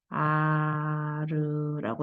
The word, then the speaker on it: 아르: 하나 만들어서 쓰고 있어 1아루 이렇게 읽을 때는 아르라고 읽어 그 다음에 한별의 길이가 100m가